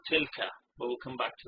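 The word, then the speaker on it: تلك: You pronounce it as tilka, but we'll come back to that in a moment.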